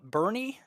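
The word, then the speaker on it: Boerne: 9am every morning 9am it's pronounced uh Bernie are you sure because it looks like born born Texas is that how it's pronounced really all right so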